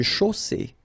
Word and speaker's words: chaussée: Une chaussée. Okay, here final E not pronounced, and then you get the double S between two vowels, so it's really strong. I mean, the S is s.